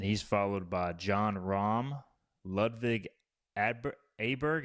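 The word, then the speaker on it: Ludvig Åberg: followed by John Rom Levig Adberg. Am I pronouncing that right? Ludvik Aberg. Aber Ludvik Aber. If you didn't just ask me I would know. I think it's Aberg. Yeah.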